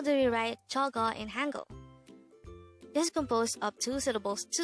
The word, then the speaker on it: 저거: The second way of saying that in Korean is 저거. This is pronounced as a two-syllable word. 저거.